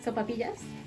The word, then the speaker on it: sopaipillas: So we're going to make sopaipillas.